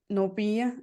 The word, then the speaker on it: Namibia: So around this work you're doing down there in Namibia, how do you say that word exactly?